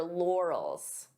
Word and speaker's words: laurels: This could be a hard word to pronounce depending on your native language because we have an R and an L. Lor lore. So divide the sounds until you're comfortable with each sound. Lals and then you can pronounce it as one.